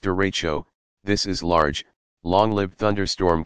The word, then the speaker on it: derecho: meters you what is a derecha you pronounced derecho this is large long-lived